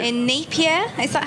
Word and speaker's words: Napier: In Napier, is that how you pronounce it? Napier, yeah.